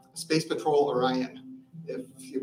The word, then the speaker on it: Orion: Did I get the pronunciation close to right that time? Orion, yeah.